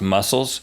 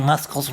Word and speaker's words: muscles: Do you know that you're pronouncing muscles wrong? It's my fault. It's muscles. The C is silent, people.